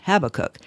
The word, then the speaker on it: Habakkuk: Okay, actually his name should probably be pronounced Habakkuk, but since I grew up calling him Habakkuk, you're stuck with my pronunciation.